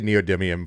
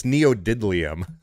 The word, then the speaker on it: neodymium: I don't see neo I don't even know how to say neodymium properly anymore. It's neodidlium.